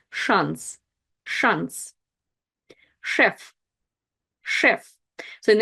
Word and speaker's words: шанс: Шанс. Шанс. It's also tricky to recognize, and that's the word chance. Ch in English, but sh in Russian. Шанс.